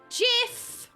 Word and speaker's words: GIF: oh mo so cute it's pronounced JF oh yes sorry so